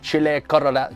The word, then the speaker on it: chile Colorado: So we're going to be making what's called chili Colorado. Sure. If you're to pronounce it more like the Spanish way, it'd be chile Colorado.